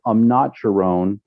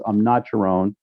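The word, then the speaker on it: Amnat Charoen: They call it Isan, and actually, the province where my mom comes from is called Amnacharon. Um, excuse my pronunciation, but I think it's Amnacharon.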